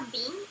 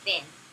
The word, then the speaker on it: been: Se você falar been, eles vão entender, mas a pronúncia correta é been. Não é com som de i, porque com som de i ficaria com a pronúncia de como fala feijão em inglês, que é beans.